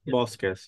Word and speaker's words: Bosques: Yeah, Bosques.